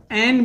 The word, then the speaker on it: an: एन को अन भी कहा जाता है और इसे एन भी कहा जाता है।